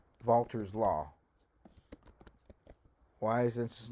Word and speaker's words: Walther: we use something called vaulter's law why is this not walter why isn't that walter's law walther's law because it's german and the w is pronounced so it's walther's law